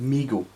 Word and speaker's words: Mego: look at migo or mego or whoever you want to pronounce it but you know reliably informed because pronounced migo now recently uh migo